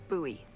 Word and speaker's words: Bowie: It's actually pronounced Bowie. What? No. No, it's like the last name, like David Bowie. Different last name. Bowie. Are you just messing with me? No, that's how it's pronounced.